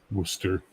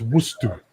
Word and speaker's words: Worcester: If they did Worcester, it's not. It's Worcester.